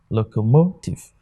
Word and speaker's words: locomotive: out you realize that the stresses are on the third syllables if we're pronounced like this one it is pronounced locomoto locomotive okay so if it's